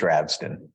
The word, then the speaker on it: Ravsten: Is that the right pronunciation? It is. Ravesten.